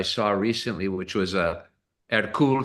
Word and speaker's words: Hercules: It's spelled Hercules, which is how we would pronounce it in English.